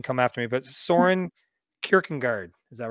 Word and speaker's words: Kierkegaard: But Soren Kierkegaard, is that right? Kierkegaard, yeah.